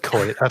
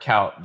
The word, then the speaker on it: Kuyt: I said Coit. I'm sorry, Cout. Dirk Cout. My bad.